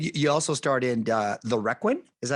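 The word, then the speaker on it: Requin: And you also starred in The Requiem. Is that how you pronounce it?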